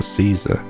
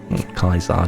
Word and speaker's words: Caesar: has given rise to Caesar kaisa depending on how you want to pronounce it that's I